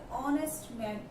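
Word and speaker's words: honest: consonant है है इस ऑनेस्ट ऑनेस्ट बिकॉज़ हा क्या है साइलेंट है अगर एक्स साइलेंट है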